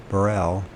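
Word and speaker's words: Breuil: by H burel and I pronounced that is b r e u i l Burell I guess it's h barell in 1952 alongside this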